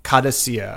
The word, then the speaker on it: Qadisiyah: Qadisiyah. Okay, so like quesadilla kind of, but Fatima Batouk is a Saudi fitness guru.